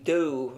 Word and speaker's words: 多: O, like the English or, e.g. do. Many would pronounce like the English door.